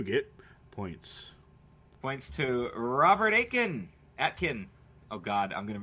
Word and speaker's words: Atkin: I know it's Atkin. Because it's Atkin diet thing. I thought it was Aiken, as in like the T doesn't exist.